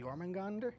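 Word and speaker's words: Jörmungandr: It's Jormungandr. Jormungand. Or Jormungand. Jormungand. I think the ER is probably added on.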